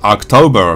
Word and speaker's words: October: 近くでギャー子この october っていう単語も大じゃないんですよねこれ october ってすごい発音したくなるんですけど実際は悪タウバーみたいな感じであに近いをの方な